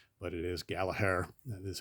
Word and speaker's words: Gallagher: uh G Asylum thing so we always say Gallagher but it is Gallaher that is how you pronounce his name all right sorts of Rory